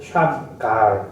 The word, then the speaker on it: 삼갈: 워낙에 이제 이 삼갈이라고 된 사람, 원래 발음은 이제 샴, 앞에는 이제 샴이라고 부르고요. 샴갈 이렇게 부릅니다. 샴갈 이렇게 부르는 사람인데 우리나라에서는 어쨌든 삼갈로 이렇게 되어 있습니다.